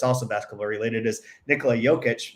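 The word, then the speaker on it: Jokić: basketball related is Nikola jokic they call Joker because they don't know how to say jokic that's annoying and seen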